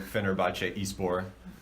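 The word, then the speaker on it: Fenerbahçe Spor: excuse me goodbye 1907 Fenerbahce spore is born that's how you say it in Turkish but okay that's yeah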